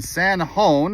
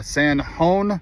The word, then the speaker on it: San Jon: We have ourselves in San Juan, and Juan is spelled J-O-N. So San Juan, New Mexico, the world's largest flip-flop.